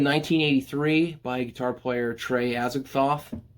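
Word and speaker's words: Azagthoth: by guitar player trey azakhthoff that's not his uh birth name i'm pretty sure that's how you say it it's i think it's the same as the lovecraftian entity as a thoth it's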